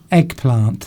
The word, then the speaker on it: eggplant: Eggplant. That's how we would pronounce that, just as it looks.